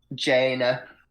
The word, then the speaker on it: Jaina: Jaina, Jayna. I was about to say something else, but we have new people on the stream, so I won't say it. Jaina. Yeah, that's how you pronounce that.